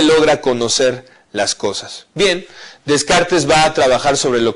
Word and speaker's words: Descartes: En el siglo XVII, Descartes, un gran pensador francés, René Descartes, o Descartes, como es la pronunciación correcta en francés, no solo se dedicó a la filosofía, fue antes que otra cosa un geómetra, un matemático.